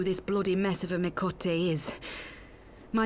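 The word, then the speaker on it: Miqo'te: are wondering who this bloody mess of a Mikote is. Well, that's how it's said. And I belong to I thought it was the Mikate. Alamegan Resistance. Mikote.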